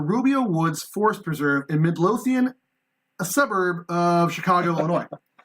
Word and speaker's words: Midlothian: Midlothian? Thank you, Aaron. Good. I'm saying it right. Miracles happen! After I butchered that, what was the word for skinwalker?